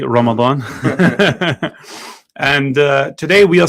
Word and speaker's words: Ramadan: We are live today in the studio after a month off in Ramadan. Uh we are but I said that like such a white man there. I'll say it properly. Ramadan.